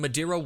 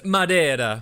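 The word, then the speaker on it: Madeira: you are sucking down madira wine like it's the first job you've ever had well Mary I just thought it was about time someone did some sucking in this house and it's pronounced Madera oh go down to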